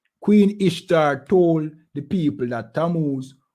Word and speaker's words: Ishtar: um became known as ishtar which is pronounced easter and our moon egg